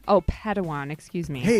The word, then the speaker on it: padawan: a pad one to this bold jedi that's pronounced padawan oh padawan excuse me hey it's getting late i think